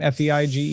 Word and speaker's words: Feige: the IO9 article that Marvel Studios president Kevin Feige, is that how you say his name? F-E-I-G-E?